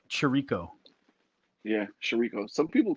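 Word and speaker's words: chouriço: spell it it's it stupid it's spelt like it looks like chirico yeah shariko some people call it rachel ray calls it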